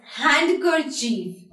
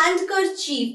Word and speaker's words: handkerchief: So some of you might be pronouncing this word as handkerchief. Handkerchief. See, it's not handkerchief, it is handkerchief.